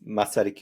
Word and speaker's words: Masaryk: it's our the name of our University is masarik University so it's like it's really simple fortunately